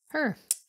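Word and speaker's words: H.E.R.: don't know R&B singer whose stage name is pronounced like a pronoun her uh her right special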